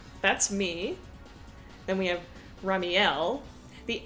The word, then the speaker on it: Ramielleux: Then we have Ramielleux. The accent is so that we pronounce it like Ramiel instead of Ramiel.